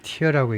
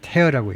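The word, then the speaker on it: tear: 눈물 할 때는 티어라고 읽지요. 티어. 근데 찢어다 그럴 때는 테어라고 읽죠. 그래서 테어.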